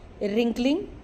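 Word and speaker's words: wrinkling: रेोल्यूशन determination decision लेना फैसला लेना रिंकलिंग। इसमें डब्ल्यू साइलेंट है बेटा।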